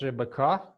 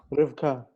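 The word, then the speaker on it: רבקה: Okay, Ushemach, not Rebecca. Yes, but in Hebrew, Rivka. Rivka. So in Hebrew, Rivka, but in our tradition, it is Rebecca. But Hebrew name is Rivka.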